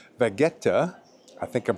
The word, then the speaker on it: Vegueta: Today, we're exploring the two distinct hearts of this island capital, the historic Vegueta and the grand walkable streets of Triana.